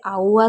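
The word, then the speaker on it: hour: वैसे तो normally H को हम हा ही पढ़ते हैं, लेकिन कुछ जगह ऐसा होता है कि एच को आ भी पढ़ा जाता है, जैसे आउअर हो गया।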